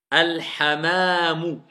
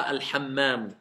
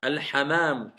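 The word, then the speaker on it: الحمام: Al-hamamu. Pas al-hammamu. Al-hamamu.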